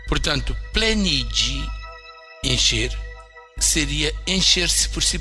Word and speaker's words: pleniĝi: Mas o sufixo ge, com circunflexo, que é pronunciado G, tem o som G, que é o usado na Renaskiji. Portanto, plenigi, encher, seria encher-se por si próprio.